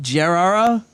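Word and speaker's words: Gerrera: Gerrara.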